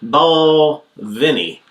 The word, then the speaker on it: Balvenie: Ball Penny. Ball Vinnie. That's how it's pronounced.